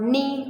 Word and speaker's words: knee: on the beginning, but if the K containing N as a second letter in the spelling, you will be not pronouncing the word K. For example, as the word knock, as the word knife, as the word no, as the word knee.